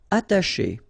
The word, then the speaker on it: attacher: Attacher. Okay, you don't pronounce the double T, okay, ata, but then remember, C and H together, they will produce this sh sound.